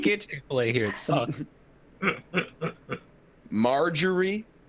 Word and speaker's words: Marjorie: yeah, like Marjorie, like the name, or margarine, like the butter substance. He didn't say margarine. Yeah, he said Marjorie.